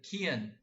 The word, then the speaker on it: Kian: Like Ian. Kian.